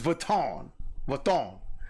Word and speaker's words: Vuitton: What she got on is Vuitton. That's the proper way to say it.